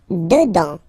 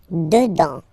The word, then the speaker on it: dedans: Dedans, final S not pronounced. Dedans, dedans. Dehors.